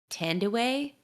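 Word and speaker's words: Thandiwe: the actress i believe tend away is how you say her name oh i said tandy newton but yeah so she added the w back in because that's her like uh birth name and so she was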